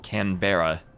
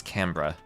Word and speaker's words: Canberra: And also, all the Aussies tell me that even though it looks like it should be said Canberra, that I should pronounce it as Canberra.